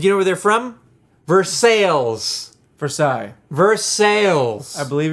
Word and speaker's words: Versailles: up it's for sales i believe the word you're looking for is versailles now if we're talking because in france they don't pronounce any any consonants yeah and at the end of words yeah they don't french